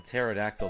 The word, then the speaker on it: pterodactyl: He is suffering from pterodactyl dysfunction because the P is silent.